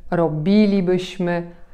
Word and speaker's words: robilibyśmy: Mianowicie chodziliśmy, widzieliśmy, robilibyśmy, pisalibyśmy, śpiewalibyśmy. Zauważcie, że tam, gdzie mamy końcówkę li bądź libyśmy, nie akcentujemy tej części słowa.